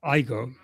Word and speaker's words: AIGO.ai: How do you pronounce that? I go.